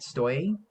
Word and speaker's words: Stoye: is um comic writer stoy is how you pronounce your name yeah that's better than